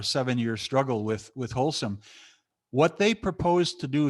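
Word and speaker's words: Holcim: in zurich switzerland their their name is wholesome and they're anything but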